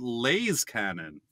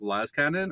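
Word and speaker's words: Las-cannon: Should it be pronounced correctly, like Laz Cannon, or moronically like this?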